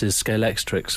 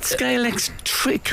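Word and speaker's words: Scalextric: bit worried about the pronunciation of scalex is it scalex trick I think isn't it yeah and you made a common error a lot of people put X at the end it's like Cliff Richards isn't it I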